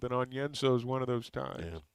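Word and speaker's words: Onyenso: some other pronunciation but sometimes you pronounce it just like it's spelled and on yenzo is one of those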